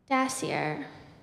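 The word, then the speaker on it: dasyure: weasel the spotted tail dassier is commonly known in Australia as the tiger cat dassier are there any alternate pronunciations there's not dashier d a s s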